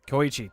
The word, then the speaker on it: Koichi: Koichi, that's how you say it. It sounds very like Japanese, actually.